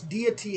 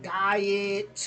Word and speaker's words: deity: They were like this like they were trying to pronounce deity and they were saying like diet uh di- diet.